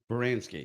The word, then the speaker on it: Baranski: Kristen, is it Baranski? Baranski. Is that how you pronounce that? You did good.